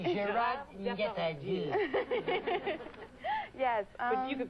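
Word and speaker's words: Gérard Depardieu: Gerard Depardieu.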